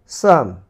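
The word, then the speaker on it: psalm: এরপরে দেখো সাম, সাম এখানে পি সাম হয়নি, হয়েছে সাম।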